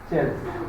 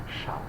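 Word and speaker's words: Chasles: So this is not Chelsea, it is Schall.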